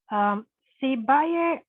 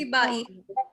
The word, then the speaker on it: Sibai: Sibaye. Nope, it's Sibai.